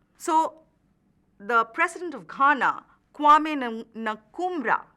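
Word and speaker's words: Nkrumah: the president of Ghana kumra that is how we pronounce his name uh but in English you can also call it nakuma the president of Kanan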